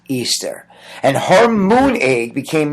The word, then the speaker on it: Ishtar: Samaris became known as Ishtar, which is pronounced Easter, and her moon egg became known as the Easter egg.